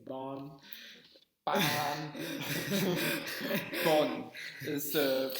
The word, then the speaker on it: Bonn: Bonn is the pronunciation.